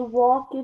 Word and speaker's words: worked: They worked hard. They worked hard. Worked hard. It's not two syllables, it's one syllable.